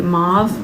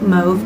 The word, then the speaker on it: mauve: little bit more of the mauve move depending on how you say it we'll bring it